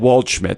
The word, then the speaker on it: Waldschmidt: This is not the episode for you because Waldschmidt, I said Waldschmidt, so I said it right.